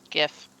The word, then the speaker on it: GIF: a true Missouri see soft G like in Jiff exactly oh I will fight you on that one Brandon gif yeah it's been good